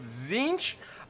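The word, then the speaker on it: Tzeentch: some Marauders chosen of corn some forsaken of zinch I know how to say it now by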